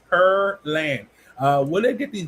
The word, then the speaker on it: Pearland: She said per. See the per pear land. Per p p per p per p per. I guess I'm saying it right. I don't know. Per because I don't eat pears. So per land. That's what it is.